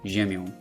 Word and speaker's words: ziemią: However, on is always nasalized, ziemią.